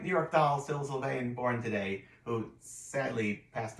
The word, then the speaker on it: Sylvain: And last but certainly not least, 1951, Syl Sylvain. Did I pronounce that correct? So. Sylvain.